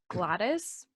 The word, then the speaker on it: Gladys: on the name pronunciation it's gladys what's okay that's not goddess is gladys is fine how did you think